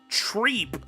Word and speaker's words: Trepe: The only problem with that is that Trep would be pronounced Trep in French, but it's Treep according to the Kana.